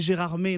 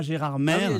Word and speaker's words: Gérardmer: aussi pour faire autochtone il faut prononcer gérardmer non pas gérardmer je vais vous poser